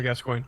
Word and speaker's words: Gascoigne: gascoigne um that's it Samuel gas coin as far as I understand that's that's how he choose to pronounce it so if you find it something different well I take it very seriously that you are wrong so no it's uh